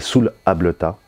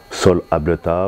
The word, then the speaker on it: Soul Ableta: en fait qui s'appelle Soul Ableta. Sol Ableta, ou ça dépend, on peut le prononcer de plusieurs façons.